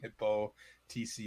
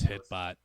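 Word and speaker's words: HippoTC: saw really no yeah i apologize for pronouncing your name wrong hippo tc if you are watching this i used to think it was hitbot like hitbox i was like i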